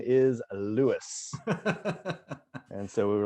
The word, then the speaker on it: Lewes: here to tell you that the name is louis and so we were like there you have it it is lewis not a doubt and you were involved for